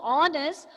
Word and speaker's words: honest: Similar to her, this word also is honest. We hear H is silent and it has a vowel sound.